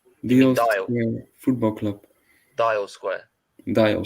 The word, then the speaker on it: Dial Square: Deal Square. Deal. Yeah, the pronunciation. You mean Deal Dial? Square Football Club.